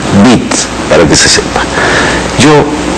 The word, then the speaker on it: Witt: En alemán se dice, la B se pronuncia, la W se pronuncia B, es Galo Mora Bit, para que se sepa.